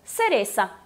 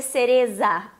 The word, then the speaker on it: cereza: Então, cereza. Aí fica fácil, não é verdade? Temos o quê? Ah, cuidado para não fazer cereza, porque o Z não é fraco como no português, tá bom?